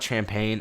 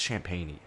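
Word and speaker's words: Champagnie: below in the comments i know it's not champagne and i don't want to call him champagne champagne i think it's champagney he played phenomenal and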